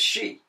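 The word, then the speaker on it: Xi: we don't pronounce cubes we don't pronounce X's what they have it written right X I is is she it's not X I or something all right all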